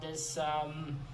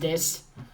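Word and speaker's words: Dis: the city of this, D-I-S. Yes, D-I-S. Pretty sure it's pronounced this.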